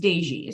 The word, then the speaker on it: Dezsi: It's pronounced Dezsi. So you're Dezsi.